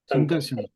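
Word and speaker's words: संकर्षण: expansions, Pradyumna, Aniruddha, and Sankarashana. Sankarshan. Sankarshan. Sankarshan. Yes, Sankarshan. ठीक है, इसलिए sometimes those who are familiar with Devanagari should read in Devanagari. Then the pronunciation comes correctly.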